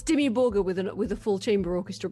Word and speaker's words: Dimmu Borgir: Is that the way you pronounce it? I always thought it was Dimmu Borgir. I always went Dimmu Borgir. Okay. The hard G, but I don't know.